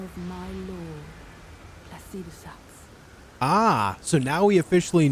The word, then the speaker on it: Placidusax: Devour its throbbing heart, I will grant you the strength required in the name of my lord, Placidusax. Ah, so now we officially know how Placidusax is actually pronounced.